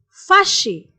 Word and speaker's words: fâché: Être fâché, être fâché. Both masculine and feminine are pronounced same, but the spelling is a bit different.